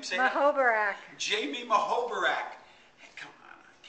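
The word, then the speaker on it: Muhoberac: Mahoberak.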